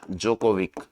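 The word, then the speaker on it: Djokovic: जो title Novak बेटा जो को वीक दी साइलेंट इसमें सिंगल का टाइटल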